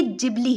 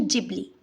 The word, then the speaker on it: Ghibli: पहली बात तो यह गिबली नहीं है। यह जिबली है। Japanese pronunciation जिबली।